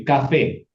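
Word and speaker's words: קפה: Chips, Kecap, Kohi, Bukan kopi, kafe, Kafe, kafe.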